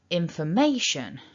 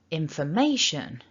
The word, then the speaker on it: information: sounds in a moment so hold in your mind four syllables and two stresses so repeat after me this time focusing on syllables and stress information again information good i overemphasized the